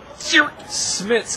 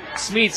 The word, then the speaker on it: Smeets: So for the first time all tournament, I get to announce Smits coming up. Smeets, excuse me.